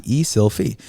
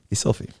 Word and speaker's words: Eszylfie: F like Frank, I-E, Eszylfie. I tell people the easiest way to remember pronouncing my name is think of a selfie, like you're taking a photo, and put an E in front. Eszylfie.